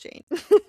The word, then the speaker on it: Jain: Rhymes with, or like rain. But Mhm. Jane. Mhm. And I did look it up. It is pronounced Jain.